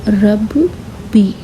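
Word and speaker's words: رَبِّي: तो ये कैसे पढ़ेंगे हम, रब बी। तो अगर तीनों को एक साथ मिलाकर हम पढ़ेंगे तो ये हो जाएगा रब्बी। तो आप इसे प्रोनाउंस करेंगे रब्बी। इसे डबल पढ़ना पड़ेगा।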